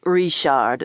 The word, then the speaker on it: Richard: He pronounced it Rishard the phony popped into my mind.